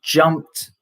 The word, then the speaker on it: jumped: that one now is when the last consonant is not t or d then you could pronounce the e d as t so here we have the last consonant as s so we have blessed so blessed uh jumped okay so you can